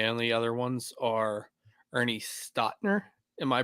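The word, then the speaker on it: Stautner: The only other ones are Ernie Stotner. Am I pronouncing that right, JT? And Yes, Stoutner.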